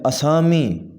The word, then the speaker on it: اسامی: السلام علیکم، السلام علیکم۔ آسامی، صحیح تلفظ ہے اسامی، اسامی۔ احتیاطاً، صحیح تلفظ ہوگا